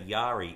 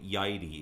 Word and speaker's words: Yairi: Now, a lot of people say Yairi. It's actually Yairi. It's Y-A-I-R-I. In Japanese, A and I together is pronounced as I, like we would say the I in your head, for that matter, or I as in I am Jason.